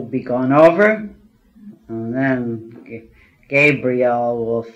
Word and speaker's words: Gabriel: day when literally, Gabriel, which is all mispronounced by the way, it's Gabriel, not more poetic too?